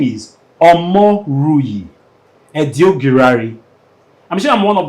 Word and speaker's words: Omoruyi Edoigiawere: take it take it slow his name is omo rui Ed guari I'm sure I'm one of the first persons that I've gotten the pronunciation omori edary who's the lead partner of